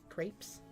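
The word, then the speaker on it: crêpe: Crepes? Crepe. I'm gonna be that person. You're French. You should know how to pronounce that.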